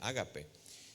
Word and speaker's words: ágape: La palabra es ágape en griego es la pronunciación ágape.